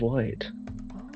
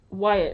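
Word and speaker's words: Wight: your island called again uh the Isle of white oh Isle of white that sounds cool as heck it's Wyatt right or how do you spell it uh w i g HT I was not even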